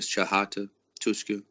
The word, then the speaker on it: Chata Tuska: They actually pronounce it Chahata Tuska, but I just spell it and pronounce it Chata Tuska.